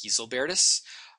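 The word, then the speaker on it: Gislebertus: Portal sculpted by a sculptor named Easley Bertus I've also heard it pronounced Keys Albertus and I think that as a memory device you can remember him as Grizzly Barris and he is the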